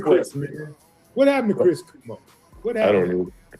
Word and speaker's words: Cuomo: What happened to Chris Kumo? What happened? I don't I don't know. Uh is it is it Kumo? Kumo. Kumo. It's Kumo. Quomo. Quomo. C U O M O. Quomo.